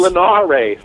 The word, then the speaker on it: Linares: It's Linares.